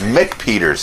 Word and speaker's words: McPeters: and repeaters we're getting am I saying the name a penis Mick Peters yes see and and you